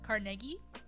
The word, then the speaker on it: Carnegie: it says just as Carnegie Mellon University at the bottom Carnegie was supposed to be pronounced Carnegie Carnegie at melon Carnegie Mellon Palace